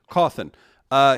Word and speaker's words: Cawthon: Cawthon.